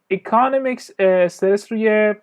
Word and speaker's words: economics: اوکی، economics استرس روی سیلاب اول یا بخش اول قرار میگیره، به این صورت تلفظ میشه economics.